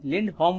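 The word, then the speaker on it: Lindholm: Okay, लिंडहोम बोलेंगे इसको, ठीक है, होल्म नहीं है ये, लिंडहोम। ठीक है, इसका ई करेक्ट प्रोनाउंसिएशन।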